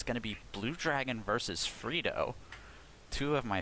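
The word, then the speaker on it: BLUDRGN: I had a little bit of a problem trying to figure out how to pronounce that name because it's actually B-L-U-D-R-G-N. So I was like, is it Blood Rain or something?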